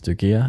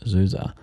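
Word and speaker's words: Du Già: You would head west and south to a town that looks like it's Dugia. It's pronounced Zuza.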